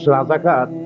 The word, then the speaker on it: রাজাকার: রাজাকার তো শব্দটা রাজাকার। শব্দটা হচ্ছে রেজাকার। এখন এটাকে বাংলায় উচ্চারণ করতে গিয়ে বাংলায় এটা রাজা কার হয়ে গেছে।